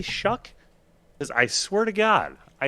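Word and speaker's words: Shough: Tyler Shuck's last name is pronounced Shuck, Shuk, like the word used in aw shucks or shuck corn. Despite the appearance and spelling, it does not rhyme with cough or dough.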